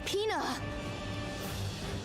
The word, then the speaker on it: Pina: That sounds like peanut but without the T.